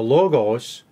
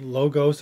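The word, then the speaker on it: λόγος: it's yeah it's the it's the Omicron so it's the shorter o but they may have pronounced it very similar to Omega which is a longer oh we don't really know okay maybe some people know I'm not real sure if you learn Greek to distinguish them they'll teach you to pronounce it logos and they'll teach you pronounce the Omega as o but uh whether that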